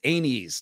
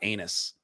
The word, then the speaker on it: Aenys: king aerys king anus i hate that it's anes not anus aenes rhaenys aegon this is